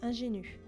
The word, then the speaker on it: ingénue: Ingénue.